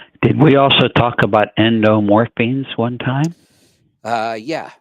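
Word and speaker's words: endorphins: we also talk about endorphines one time uh yeah so now I saying it correctly yeah morphine is in the word what what is Morphine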